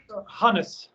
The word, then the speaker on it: Hannes: um it's a honey so is that you pronounce it correctly harness harness yep cool well thank you so much